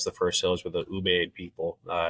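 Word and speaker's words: Ubaid: refer to as the first sales with the ubed people uh it's u-b-a-i-d I think is how they spell it um and you know you're looking at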